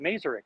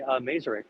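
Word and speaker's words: Maersk: um the uh yeah merline they pronounce it maseri here isn't that uh whenever I talk to people about it they they say merer um yeah no it's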